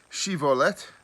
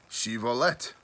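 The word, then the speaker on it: shibboleth: then they would say to him please say shivolet and he would say shivalette for he was unable to pronounce it right just like i am then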